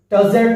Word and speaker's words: tousled: The first one is tousled head. Be careful. E silent. You have not to pronounce E.